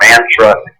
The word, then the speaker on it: mantra: to say mantra or mantra, but M-A-N-T-R-A, pronounced mantra. And it's etymologically, it's mantra. Man is mind, tra is to carry across.